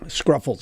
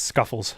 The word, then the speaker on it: Scuffles: No, there's no R. It's Scuffles.